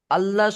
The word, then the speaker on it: الله: قل هو الله أحد না ভাই, এখানে কায়দা কি, আল্লাহ শব্দের ডান দিকে জবর বা পেশ থাকলে তখন ল পড়তে হয়, উচ্চারণ লামকে, আল্লাহ শব্দের লামকে পুর করে মোটা করে পড়তে হয়।